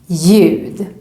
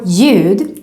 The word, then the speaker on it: ljud: Also here, when we see a word with this combination, we just ignore the L and just pronounce it as J. For example, in these words, ljus, ljud.